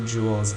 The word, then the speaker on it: joules: amount that's called jewels it's spelled like this but pronounced like jewel you know like a diamond or a ruby um so 10 joules and let's say the